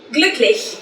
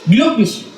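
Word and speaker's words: glücklich: Ada Ar atau aku bahagia Iya ihbin ihin gluklish gluklish tulisannya g l u-nya pakai titik dua cek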